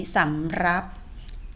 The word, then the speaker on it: สำรับ: สอง สำรับ นะ นี้ สำรับ คำ ว่า รับ คุณ ครู ออก เสียง ลิ้น หัด นะ คะ เด็ก ๆ ก็